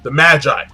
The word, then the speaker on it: Magi: Number two, we find out about the origin of the Magi, and I'm gonna say Magi, not Maggie, because Maggie is it's not appealing. Magi sounds cooler, much cooler.